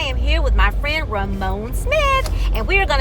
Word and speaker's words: Ramon: His name is Ramon, and I've been saying Ramon.